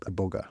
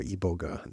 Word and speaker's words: Iboga: Ibogaine is a drug, a medicine that is derived from a plant, a bush called Iboga or Iboga, depending on who you are and how you're pronouncing it.